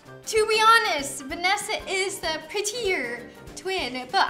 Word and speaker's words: Vanessa: Okay, this one's completely butchered. Das Vanusu. Vunesu. Vanusa. No, it's Vanessa. It's Vanessa.